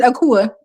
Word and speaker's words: Akua: I say, My name is Akua. It's just me born on Wednesday, It but it's sound pronounced like Akua.